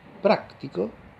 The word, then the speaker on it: práctico: En cambio, si digo práctico, práctico, ¿no?